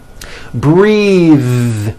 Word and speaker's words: breathe: Breath is a noun. Take a breath, unvoiced. But when you change it into a verb, the vowel changes and it becomes breathe. I am breathing with a voiced TH.